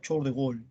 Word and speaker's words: Charles de Gaulle: Se escribe Charles de Gaulle, se pronuncia Charles de Gaulle, ¿no?